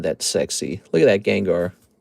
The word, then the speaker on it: Gengar: That's how it's pronounced. It's actually pronounced Gengar if you didn't know that.